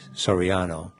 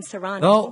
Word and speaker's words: Serrano: pronouncing names correct here i hate it when people call me Soriano good morning chairman Serrano hold on a sec